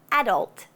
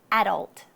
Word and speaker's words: adult: For example, adult. The emphasis is on the a. Adult.